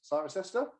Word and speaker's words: Cirencester: Definitely, is it Cirencester? Did I get that right? Yeah. So, capital of the Cotswolds, Cirencester. Cool. I can't say I've ever been, and I can't even pronounce it.